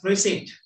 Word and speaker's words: receipt: Next one is receipt. Receipt. What is the silent letter? P. Good. P. Receipt.